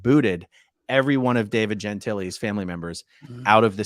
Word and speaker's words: Gentile: And I am shocked that David Miscavige has not booted every one of David Gentile's family members out of the Sea organization, because this is going to be dirty, dirty, dirty, dirty, dirty.